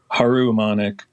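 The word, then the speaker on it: Harumonic: Um, h how do you how do you pronounce Did you say harummonic? Haru Monik.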